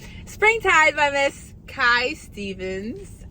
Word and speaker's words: Stevens: I was literally saying her last name wrong this entire time, and no one corrected me. I was saying Steffens, because like the way it's written, I thought of like Curry Steffens, you know?